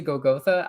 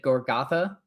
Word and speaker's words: Golgotha: You pronounce it Golgotha, I pronounced it Gorgotha.